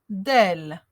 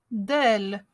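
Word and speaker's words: دال: La lettre del. Elle se prononce d, d, comme le D en français.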